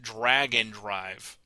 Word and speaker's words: Drag x Drive: Nintendo the game is spelled drag X drive it is pronounced Dragon Drive which you don't drag